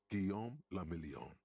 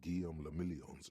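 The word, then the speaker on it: Guillaume Le Million: meant only one thing Guillaume La million if it doesn't rhyme you're not pronouncing it right out of the dazzling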